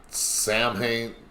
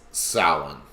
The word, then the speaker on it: Samhain: Now, a lot of people pronounce that Samhain. That's the wrong pronunciation. It's Samhain.